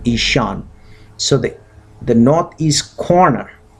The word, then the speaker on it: Ishan: Cone cone means corner and isan I'll spell it for you that's how it is said in Sanskrit i s h a n isan so the the northeast